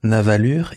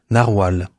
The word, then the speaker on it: Narwal: renommée en navalure mais il ne faut pas prononcer paraî-il navalure il faut prononcer narwal il paraît aussi qu'en